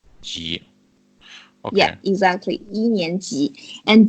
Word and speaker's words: 级: Ji.